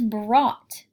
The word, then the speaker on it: brought: on your passage, is brought. Brought says ah. Say it with me. Brought. Do you hear the ah sound in that word? This sound is spelled O-U-G-H, ah.